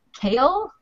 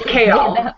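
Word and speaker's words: Chaol: And then the guard is much more kale. I don't know. It's kale. Kale. He's much more reserved, like the salad.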